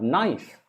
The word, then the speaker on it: knife: a hard bone then you have knife knife knife and k k is silent then we have two